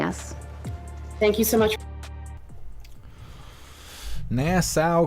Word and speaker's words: Nassau: thank you so much Nassau County okay so that's how you say it actually I wrote it down I wrote it down all broken up so I could remember how to say it it's like that